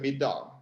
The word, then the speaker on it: middag: The funny thing about Swedish is that the word for dinner is middag, which is spelled M-I-D-D-A-G, which is kind of a cognate for midday.